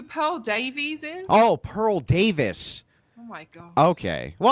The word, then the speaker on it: Davis: I'm pretty sure it's pronounced Pearl Davis, and over there in UK, they're pronouncing it as Pearl Davies or Davies, stuff like that.